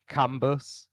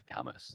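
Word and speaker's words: Cambois: Um it's been pronounced camoir kambas kamas but the correct pronunciation as told by the hcbc president who rode for camas it is indeed kamas.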